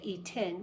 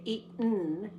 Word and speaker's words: eaten: before that too now we don't usually say eaten we say eaten we kind of swallow it so that it doesn't pop eat but you still hear it as a separate syllable one more time I